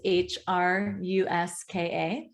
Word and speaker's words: Hruska: It's pronounced Hruska, is that correct? Yes, and the last name is Hruska.